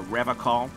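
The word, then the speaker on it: Revachol: to stay strong for rev a call he pronounces revl with a hard k unlike other people i like to pronounce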